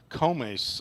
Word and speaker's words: Comes: And now Ben Comes, I believe is how it is pronounced. No B.